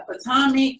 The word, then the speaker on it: Potomac: She did, I think she said she did Real Housewives of how do you say Potomac? Yeah, Potomac, and also where's the one with the mob wives on it?